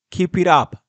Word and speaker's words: keep it up: en inglés se dice keep it up keep it up keep it up keep it up la pronunciación de esto es conjunta keep it up up casi como si fuera una sola palabra y Bueno amigos Hasta